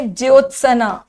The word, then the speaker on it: ज्योत्सना: आधा स न को आ ज्योत सना सना हल्की आवाज है स की ठीक है ज्योसना कोमुदी